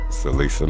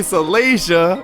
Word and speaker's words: Celicia: Celisa Mitchell. So, you know, we want to say her name right. Like I said, I have an older sister named Celicia. So I say Celicia, you know.